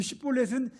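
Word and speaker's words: שִׁבֹּלֶת: 그러면 이 사람을 붙잡아가지고 쉿볼렛이라는 발음을 시켜보는 겁니다. 이 쉿볼렛은 시냇물이란 말인데 에브라임 사람들은 쉿볼렛을 쉿볼렛이라고 발음하지 못하고 쉿볼렛을 쉿볼렛 이렇게 발음을 합니다.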